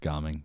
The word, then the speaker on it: Gaming: but it's spelled the same way and it's pronounced ging sorry yeah I went it was very disappointing